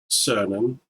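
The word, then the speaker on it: Cernan: and me there's Eugene cernon pronounced with the Soft C as in sirloin and Jack Schmid the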